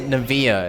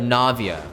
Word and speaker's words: Navia: Navia Navia is it I keep pronouncing it Nava instead of Navia God damn it there's